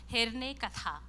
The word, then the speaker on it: Herne Katha: I'm not sure if it has got sound, but that's how we pronounce it. Herne Katha.